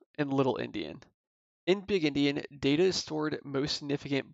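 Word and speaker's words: endian: stored in memory is known as Indian pronounced as like in India like a Native American Indian or byte order so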